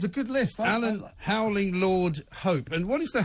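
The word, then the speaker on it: Laud: Alan Howling Lord Hope. And what is the Howling Lord bit about? L-A-U-D. What's What's that? loud? Why are you loud instead of Lord? Howling loud. Oh, it's Lord, L-A-U-D, L-A-U-D.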